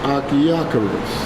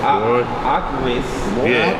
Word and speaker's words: Achiacharus: How you pronounce it? This is Achiacharus. There you go. Achiacharus. Achiacharus.